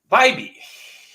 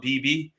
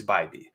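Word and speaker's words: Bibee: Guys, his name is pronounced Bybee. I often have people correcting my pronunciations. I call it BB, and it's Bybee.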